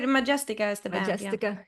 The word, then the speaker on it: Majestica: to pronounce the name of the No, band. you said it right. Majestica is the band.